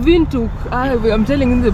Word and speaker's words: Windhoek: W is a v the H is silent and the W is V yes it's called St